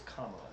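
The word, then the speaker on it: Kamala: about Camala Harris it's kala apparently apparently it's comma that's that's how she pronounces her name like K La where you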